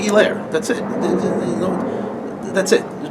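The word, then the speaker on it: Helaire: name all right if if the h is silent then just say his name right it'll be a douchebag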